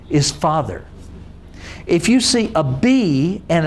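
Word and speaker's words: אב: you can know that Ab can also be pronounced as Av in Hebrew, because the B and the V are the same letter. There's just a tiny little dot there known as a dagesh, okay, that means the difference between the V sound and the B sound.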